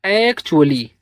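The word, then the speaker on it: actually: एक्चुअली।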